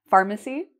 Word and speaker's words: pharmacy: You'll notice it's spelled with PH, pharmacy. So just looking at that PH might be confusing, but the way it's pronounced is pharm-a-c, pharmacy.